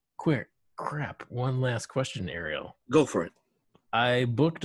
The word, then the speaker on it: Ariel: people ask me if Ariel is the right pronunciation the Spanish for this age pronunciation is of course you have to roll your R's but the end but